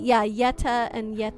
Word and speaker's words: Yeta: You think it's uh the pronunciations are like how you pronounce Yeti? Yeah. Yeta and Yet Yetto, but you replace the last syllable to be masculine or feminine.